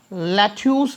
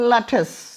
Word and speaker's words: lettuce: लैथ्यूस बोलते हैं हम इसे. लैथ्यूस. We need लैथ्यूस. नॉट, इट is wrong. लैटिस, लैटिस, लैटस, लैटस, लैटस।